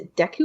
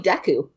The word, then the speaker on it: Deku: or deck is a Deku or date I always pronounce it with an A but it's probably Deku I've always said thank you